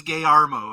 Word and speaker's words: Guillermo: say it right um he doesn't even have a s in it his name is gay armo okay Guillermo del Toro